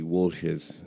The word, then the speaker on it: Welsh's: second one is called Welsh's. I suppose that would be Walsh's if your family wasn't from Wexford. Welsh, that's how they say it in Wexford.